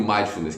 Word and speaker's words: mindfulness: Agora eu falei Mindfulness, como eu falo, e o Mindfulness, que é a forma certa de falar, a pronúncia certa.